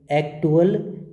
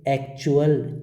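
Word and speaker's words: actual: क्या नहीं कहेंगे, एक्टुअल नहीं कहेंगे। क्या कहेंगे, एक्चुअल, चुअल। TUAL क्या पढ़ा जाएगा, TUAL को हम पढ़ेंगे चुअल, चुअल। तो जब कभी भी आपको TUAL दिखाई दे तो उसका उच्चारण आपको चुअल करना है, ठीक है।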